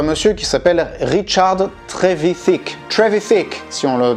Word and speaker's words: Trevithick: Trevithick, si on le prononce bien comme il faut.